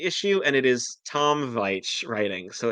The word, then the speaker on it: Veitch: no, I'm looking at the issue, and it is Tom Veitch writing, so it's not. Okay. Or Um, yeah, Veitch, yeah. Veitch, Tom Veitch, I've always said Veach if it's spelled the same as Rick Veach.